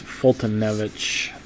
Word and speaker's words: Foltynewicz: ton of it and Winker I guess that's foltynewicz is the way his name is pronounced it's a lot of damn letters he's